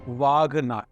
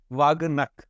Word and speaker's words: wagh: wag am I pronouncing it correctly people from correct me n okay vag vag is AI term for B tiger is